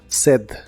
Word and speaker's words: said: you say Qué dices en el pasado es said se pronuncia said Said y la usas en